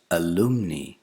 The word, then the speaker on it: alumni: ALUMNI. This is not alumni, it's alumni.